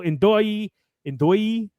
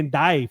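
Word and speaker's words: Ndoye: thanks to Orsolini, Castro, Ndoi, how to say it? It sounds weird to put the Doi, but yeah. I want to say Ndai for some reason, but it's definitely an O.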